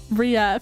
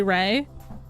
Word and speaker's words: Ray: same and I remember I said it Ria for so long and you one day finally told me um Frog Crafting. I know I've been here for 3 years, but you've been saying my name wrong this whole time and it's actually Ray.